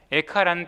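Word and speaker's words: איכה: 수 있겠죠 그런데 그 히브리어의 제목 또한 발음이 에카입니다 에카라는 뜻이 뭐냐 어떻게입니다 영어로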